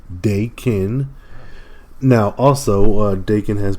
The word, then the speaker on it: Daken: heal when his skin is destroyed uh you pronounce his name Dakin now also uh Dakin has been brought back